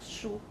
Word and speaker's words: 书: But you have to have retroflex, 书.